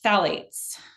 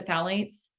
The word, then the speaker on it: phthalates: okay great okay next phthalates so Sally's if you're spelling it it starts with a P so it's a tricky word um the p is silent um this is found